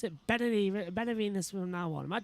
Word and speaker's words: Benavides: I will pronounce it Benavides from now on.